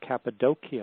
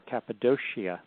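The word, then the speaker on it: Cappadocia: You have a region called Capidokia or Capidoshia depending on how you want to pronounce it.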